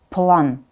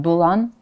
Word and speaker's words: plan: So no matter what is before L, M, N, R, it is pronounced as it should in the alphabet.